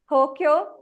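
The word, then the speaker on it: 東京: Like the famous cities, Tokyo and Kyoto. They have elongation actually. So a way a Japanese person pronounces will be slightly different. An American might say Tokyo or Kyoto, like that.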